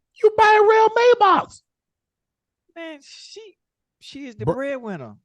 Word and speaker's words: Maybach: You got rail a Maybach? It's pronounced Maybach, but okay.